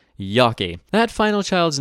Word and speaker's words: Yockey: as is the case with many families they anglicized their last name upon their arrival morphing into a phonetic representation of its German pronunciation Yaki that final child's name